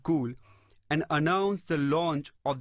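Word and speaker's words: Cuil: next company is cool it's pronounced cool but is spelled c-u-i-l this story was back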